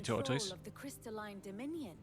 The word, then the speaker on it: tortoise: king appears I think I pronounced it tortoise like I think in received pronunciation it'd be taught us and certainly in the west country um meanwhile the blight